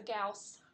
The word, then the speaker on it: Gauss: much more alright so Gauss rhymes with mouse remember I so Carl